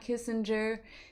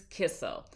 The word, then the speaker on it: Kissel: It's not Kissinger, it's not Kissler, it's not whatever else I may say. It is Kissel.